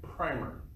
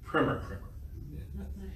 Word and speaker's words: Primer: But then they also regarded or used the New England Primer, or as Dr. Tackett will correct me in my pronunciation, Primer.